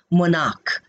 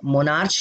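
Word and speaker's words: monarch: मोनार्क अब क है तो उसमें केवल एस लगेगा क्योंकि यहां पे मोनार्क साउंड है। मोनार्च नहीं है।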